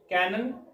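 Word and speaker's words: canon: आप देख रहे हैं ये दोनों बोलने में एक जैसे हैं कैनन और कैनन ये भी कैनन ये भी कैनन उच्चारण एक जैसा है लेकिन मतलब और स्पेलिंग अलग है इसकी स्पेलिंग है सी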